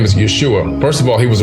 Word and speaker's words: Yeshua: That's just how you say his name in, I believe that's Hebrew language, Yeshua. Yeshua is just how you say it in that language.